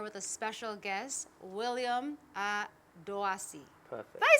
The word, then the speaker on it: Adoasi: I'm sitting here with a special guest, William Adoasi.